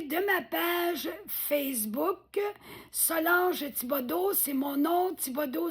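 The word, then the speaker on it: Thibodeau: mon ma épinglée de ma page Facebook Solange Tibodo. C'est mon nom. Tibodo s'écrit th au d e a u.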